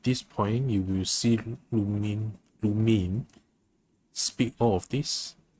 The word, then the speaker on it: Lumine: Oh, it's pronounced Lumine, not Lumine. Lumine.